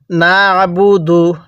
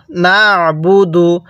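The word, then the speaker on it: نعبد: বলুন ইয়াকা এরপরে পড়ুন নাবুদু নাবুদু আইনটা পড়ার সময় গলার মধ্যে চাপ দিব তাহলে আইনটা সহি শুদ্ধ উচ্চারণ হবে তাহলে এবার মিলায়ে পড়ুন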